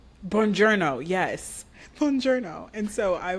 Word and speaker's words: Buongiorno: It's very similar to bonjour. Buongiorno. Buongiorno, yes.